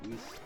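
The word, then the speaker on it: Rhys: Griff Reese Jones. Or Griff Rice Jones, because there's 2 different ways to pronounce. R-H-Y-S.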